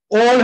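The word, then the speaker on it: all: Forget बोलते हैं, तो ए डबल एल, इसको बहुत से जन आल बोलते हैं, बट ये ऑल होता है, नॉट ऑल, ऑल, इसे ऑलवेज बोला जाता है, ऑलवेज नहीं बोला जाता है।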